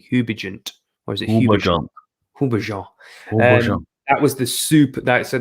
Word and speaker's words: Houbigant: So the first one, so I'm gonna really, I'm not be able to pronounce this. It's Hubigent Fougere Royale. Hubigent, Houbigant, Hubigent, or is it Hubigant? Hubigant.